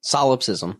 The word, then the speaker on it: solipsism: Solipsism.